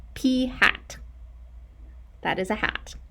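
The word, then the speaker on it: p̂: kid you not, pronounced P hat. That is a hat. The P is wearing a hat, and we call it P hat.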